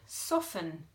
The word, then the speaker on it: soften: we have the word soften I let the butter sit on the bench for a couple of hours to soften can't hear that T can we it's just soft and can't hear the T but then I write